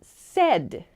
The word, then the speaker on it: said: becomes said said okay so pronunciation Point said it sounds like s d kind of so not say but said said okay if it helps